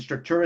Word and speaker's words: Structura: And Structura is spelled without, and it's like structural, but without the L.